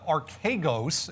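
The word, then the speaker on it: Archegos: up because this uh archagos is how you actually pronounce it phonetically it's uh a-r-k-a-y ghost uh the hedge fund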